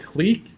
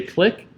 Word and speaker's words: clique: So this problem is called the, depending on how you say it, I say it clique. Some people may say click. I say clique.